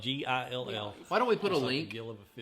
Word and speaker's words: Gill: It's spelled Gill.